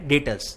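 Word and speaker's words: debtors: में डिटेल्स ठीक है बे साइलेंट है डॉक्टर नहीं है क्या है डेटर्स 20 साइलेंट है और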